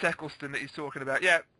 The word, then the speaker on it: Eccleston: That would have been a good way to like introduce it, having Esclesian there or whatever. You know, Eccleston. Yeah, I know what you mean. I can't pronounce his name.